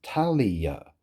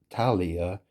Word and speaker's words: Tahliah: So, so the thing is is that you know obviously there's this musician called Fk A Twigs and her name is Talia. That's spelled T A H L I A H.